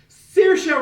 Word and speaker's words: Saoirse: marriage story acting class Saoirse Ronan little women you know what I don't like your name and I can barely say it because it's spelled like swamis but it's Saoirse and I'm sorry but